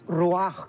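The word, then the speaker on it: רוח: La palabra espíritu es ruach, que se pronuncia ruach también.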